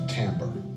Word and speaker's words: timbre: the same thing and that Tambor is pronounced a Tambor it is interesting that